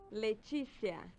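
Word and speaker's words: Leticia: How do I pronounce this? Leicia.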